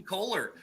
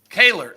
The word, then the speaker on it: Kohler: I think I say his name wrong. Kaler. I always say it wrong, and he's told me how. It's not your fault. He spelled it wrong. Exactly. It's not your fault, Dale. It's the spelling.